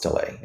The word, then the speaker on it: Oztalay: I H, and my last name is Olay, and that's spelled O.